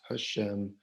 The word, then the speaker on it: Hashem: Okay, well, Lord, again, remember, is the translation of the 4-letter name, which we pronounce Hashem when we're studying.